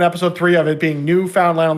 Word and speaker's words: Newfoundland: how to pronounce Newfoundland it's not Newfoundland it's Newfoundland but my response to